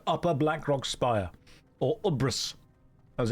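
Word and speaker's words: UBRS: We are going into Upper Black Rock Spire or Uras as it's pronounced.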